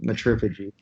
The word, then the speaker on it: Matriphagy: Is it Matriphagy? It's Matriphagy. I've seen a lot of people Okay, pronounce it differently, but yeah, we're going with Matriphagy.